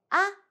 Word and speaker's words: 啊: So you add A. And the second tone.